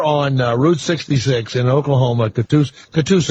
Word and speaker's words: Catoosa: So, Blaine, you're there on Route 66 in Oklahoma, Catoosa. Am I saying it right? That's correct, Catoosa.